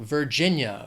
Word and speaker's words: Virginia: Next is Virginia. 3 syllables, stress is on that second syllable, Virginia, Virginia.